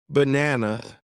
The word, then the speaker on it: banana: For example, in the word banana, the stress is on the second part, you practice saying words with the right stress so that people can understand you more easily.